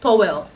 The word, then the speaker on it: towel: oh the towel the towel is in the bathroom and she like sorry what is that I'm like towel it's in the bach because growing up as Nigerian I've always pronounced it toell toell and then she looked